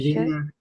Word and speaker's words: should: No vamos a ponerle L de ninguna manera. Solamente van a pronunciar la U con la D. No lleva O y no lleva L.